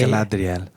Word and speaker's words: Galadriel: And by the way, when Galadriel finds out... Say it right. Galadriel.